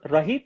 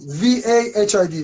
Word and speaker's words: Vahid: Is that Rahid? Did I pronounce it right? Vahid, V-A-H-I-D, Vahid, correct.